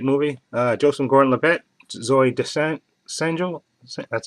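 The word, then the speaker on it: Zooey Deschanel: a really great movie uh Joseph Gordon Labette Zoe descent essential that's how you say her name okay and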